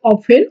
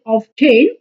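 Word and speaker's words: often: সো এটার উচ্চারণ হবে অফেন আমরা অনেকেই ভুল করে এটার উচ্চারণ বলি অফটেন বাট এটা বলা যাবে না এটার সঠিক উচ্চারণ হবে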